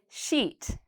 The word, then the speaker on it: sheet: whereas with this word it's very long and my mouth is very tight so I say sheet so a lot of